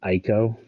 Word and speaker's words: Ico: next project from the guy who created the Eco games. So I know a lot of people are excited for this. I do not play any of the Eco Sir, games. it's pronounced Ico.